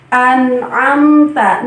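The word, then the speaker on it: أنعمت: An'amta, nun ujung lidah itu bertemu dengan gusi atas, an ya, gusi atas bagian dalam, an'amta. Jadi dia tidak mantul, bukan huruf qalqalah.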